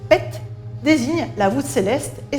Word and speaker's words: pet: Par exemple, ce signe, que l'on prononce PET, désigne la voûte céleste et se traduit par ciel.